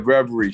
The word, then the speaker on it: Reverie: got also is it is it is it pronounced reverie is that what she goes by yeah reverie she they're both two west coast emcees iphone